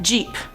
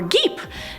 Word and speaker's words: Geep: But let's move on to number 5, Jeep or Geep. No, I'm not talking about the car Jeep. This is spelled G-E-E-P, and I was probably right the second time saying it's a Geep.